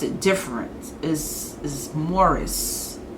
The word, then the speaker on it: Maurice: know a lot of y'all noticed i always pronounce his name maurice because i know people i know people who